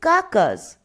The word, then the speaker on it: carcass: লায়লা জিজ্ঞেস করলো, what is কাকাস? কাকাবাবু বললেন, কথাটার বানান হচ্ছে CARCASS, কিন্তু আরটা উচ্চারণ হয় না।